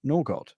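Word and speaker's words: Nørgaard: But we will start with, it's the correct way to say Norgod. Christian Nargu?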